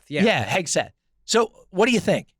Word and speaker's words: Hegseth: Did I pronounce that right? Hegseth, yeah. Yeah, Hegseth.